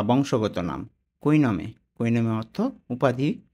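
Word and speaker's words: cognome: এখানে হবে না তাহলে জি এন টা একসাথে উচ্চারণ করব কি হবে জি এন মিলে নি জি এন এর পরিবর্তে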